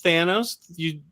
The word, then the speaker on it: Thanos: Thanos. Finally correcting your mispronunciation.